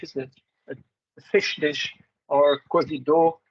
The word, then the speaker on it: cozido: a fish dish or cozido it even has like the French accent in Benin but practice pronounced cosido which is a stew